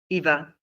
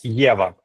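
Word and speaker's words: Єва: Eva. Uh it's in Ukrainian it's Yeva.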